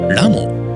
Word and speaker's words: 拉孟: 中国の雲南省、拉孟と読みます。